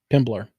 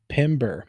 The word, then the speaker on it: Pember: Drew Pimble. Pimbler. Pumble. Still not saying it right. Pember. Pimber. There we go, like timber.